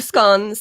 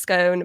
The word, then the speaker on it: scone: So over here, we have scones. They can be pronounced scone, but I like to pronounce them scone, fastest food, scone.